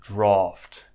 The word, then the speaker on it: draught: Oh sound drought but this word here which has an A is pronounced draught so just keep those